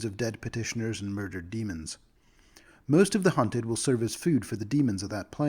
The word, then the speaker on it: daemons: Demons of a badon that's demon spelled d-a-e some of you in the comments I know have asked me to pronounce that demons I'm not going to uh demons feels like the right way to pronounce that word for me so that's